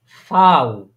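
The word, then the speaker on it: Vau: বি আরেকটা হচ্ছে ভি এই ভি টাকে তারা উচ্চারণ করে ফাউ তারা কি উচ্চারণ করে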